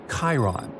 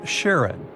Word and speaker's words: Charon: the most mysterious one, Chiron, also pronounced Charon. So you can pronounce it however you like. I'm going to go with Charon.